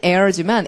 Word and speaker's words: heir: 자, 그러면 내려오시고 상속자는 heir지만 H 발음 안 하죠.